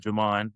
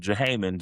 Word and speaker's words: Jamon: Because coming up, my name is Jamon, right? So whenever a sub will come, my name will be butchered. I would call it Jahaman, Jahaman, Jamin, Jamin, everything.